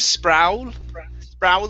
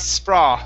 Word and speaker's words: sprawling: And the last one here, instead of sprawling, it's sprawling. Sprawling. Mm-hmm. Good. One more time. Focus on the R. Push your tongue down.